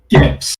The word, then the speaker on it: GIF: thing is reaction gifts which is pronounced gifs i know that who